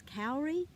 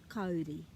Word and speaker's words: kauri: So what happens every time a Māori person hears kauri instead of kauri?